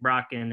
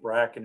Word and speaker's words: Bracken: Tyler Cacciatore, and Isaac Brocken, and do you think they'll be ready for fall? Yeah, they're all in town working out. It's Isaac Bracken, I think, the way we pronounce it, but they're all here,